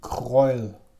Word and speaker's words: Kreul: We got this one, I'm not sure how to pronounce the name. Kreul.